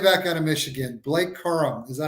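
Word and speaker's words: Corum: this guy running back out of Michigan Blake Coram is that how you say it play Quorum yep five eight two hundred nine um I'll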